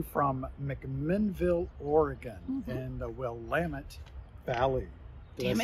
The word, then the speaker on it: Willamette: Hello there, we're coming to you from McMinnville, Oregon, in the Willamette Valley.